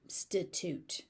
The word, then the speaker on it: substitute: So there's a B there that's not wildly aspirated. It's just substitute.